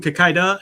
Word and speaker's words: Kikaider: That's why it's supposed to be a rider thing. Yeah. And so that's why it's der. But then it's pronounced da, right?